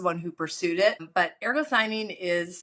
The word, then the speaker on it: ergothioneine: And that's where those are not, olive fruit and is it ergothioneine? Is that how you pronounce that?